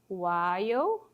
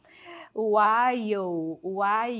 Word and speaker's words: while: While é assim que pronuncia, tá? Aqui no caso a letra L é muda, tem muito isso em inglês, as letras ficam ali de enfeite, né? While, então você não fala